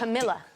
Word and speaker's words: Camila: But let's not Camila, but it's not.